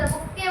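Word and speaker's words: bouquet: बुकेट। कहते हैं बुके लाए हो, है ना? बुकेट भी नहीं बोलते, बुक्के बोलते हैं।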